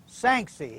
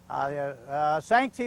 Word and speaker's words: Sanxay: Oh, here's an old familiar name, at least it's familiar to me, Sanxay. It's a hard name to pronounce, S-A-N-X-A-Y.